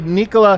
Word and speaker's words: Nikola: he talking about us because i know it's actually nicola nico and it's jakitch what yeah you guys